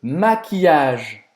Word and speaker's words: maquillage: Então não termina em no final. A gente vai terminar essa pronúncia no G, tá? E como a Emílio falou, o LL vai ter aquele som de I longo.